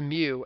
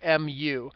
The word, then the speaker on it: mu: It's pronounced mu, mu.